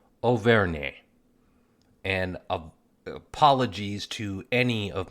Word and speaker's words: Auvergne: And apart from my massacring of the region of France known as Auvergne, and I think I've mispronounced that again, let me give that another try, Auvergne.